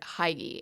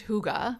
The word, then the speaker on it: Hygge: It's written like I pronounced it when I first discovered it, Hygge, Hygge, but it's pronounced Hygge.